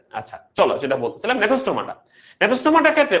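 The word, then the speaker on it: Gnathostomata: নেথোস্টোমাটার ক্ষেত্রে ওই যে বললাম উচ্চারণটা নেথোস্টোমাটা হবে, লেখার সময় জি লাগবে। ওকে, জি থাকবে। আচ্ছা নেথোস্টোমাটার অর্থ কি, অর্থটা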